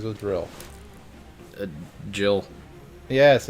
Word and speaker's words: Jill: chan yeah sort of her name rhymes with drill uh grill can't think of a female name that rhymes with drill a jill yes it's jill in